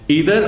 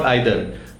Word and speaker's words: either: ईदर और आइदर दोनों pronunciations correct हैं।